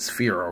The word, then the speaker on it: Sphero: the bb-8 by Sphero I think that's how you pronounce it sphere oh yeah like a sphere now um this one